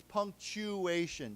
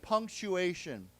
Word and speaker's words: punctuation: I think you know this, but this word here, punctuation, this is pronounced as a ch sound, not a t sound. So it's punctuation, chew. Okay, so let's say again, punctuation.